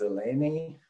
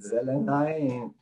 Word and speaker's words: Zelenay: you work now yeah my name is being often pronounced as elainey we pronounce it zelenai but actually a lot my last name is hungarian it's not even polish oh well my problem